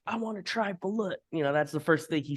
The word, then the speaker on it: balut: You got it's if I've been saying it wrong, it's not balut, it's balut.